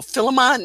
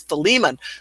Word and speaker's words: Philemon: Because I was going, Philemon? No, it's Philemon.